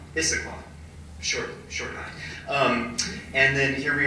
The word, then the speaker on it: Issaquah: o'clock in issaquansa how you say it yeah Issaquah Issaquah um and then here we are this evening